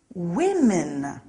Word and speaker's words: women: men woman becomes women look out for that one the pronunciation is a little strange woman women some nouns stay the